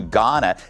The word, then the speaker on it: Ghana: LA Mayor Karen Bass is demanding an investigation into her trip to Ghana. The H is silent.